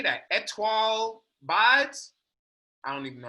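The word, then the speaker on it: Étoile: It's pronounced Etule. Etule, my bad. It's star in French.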